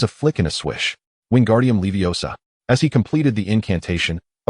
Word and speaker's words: Wingardium Leviosa: Hermione, observing him with a disapproving shake of her head, corrected, "You said it wrong. It's Wingardium Leviosa, not Wingardium Leviosar."